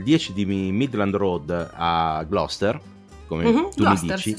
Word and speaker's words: Gloucester: In realtà credo che si pronunci Gloucester. Ah, Gloucester.